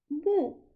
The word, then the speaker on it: 木: Écoute, la prononciation, c'est mou. Mou.